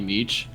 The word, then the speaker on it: Meech: bio, it said like you can call me Meech, which was my intent for you to call me Meech. And then that just carries over to the pronunciation of the whole thing.